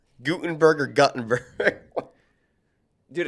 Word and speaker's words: Guttenberg: It is Guttenberg. is it God? Guttenberg. Yep. See, Okay. Gutenberg sounds right to me, and it maybe sounds a little cartoonish when I say that.